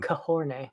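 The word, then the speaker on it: Khorne: Do you pronounce it as corn or is it corn or kahorn? Corn.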